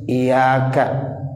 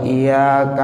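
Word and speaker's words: إياك: ke-10 kalau seandainya ada orang meringankan huruf iyanya Iya kak Iya karena budu wa iyyaka nasta'in bukan Iya Kak Nah wudhu wa iyyaka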